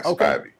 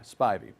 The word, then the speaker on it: Spivey: Long I, Spivey. The long I, Spivey.